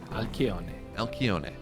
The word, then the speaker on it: Alcyone: are just keeping track of how often people mispronounce this map. Well, not Cats or I, not any longer. We got it right. Alcyone.